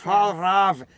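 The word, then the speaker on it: Fjällräven: How to The pronounce Frahaven pants. Fahlraven, since both of our accents booger that one up.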